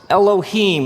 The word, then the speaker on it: Elohim: it would look something like this and it's pronounced Elohim let me hear you say Elohim eloh in the beginning Elohim created the heavens and the earth now the